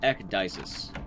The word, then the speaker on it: Ecdysis: we've just started also my name is pronounced ecdysis like eck and dice like rolling dice okay so now we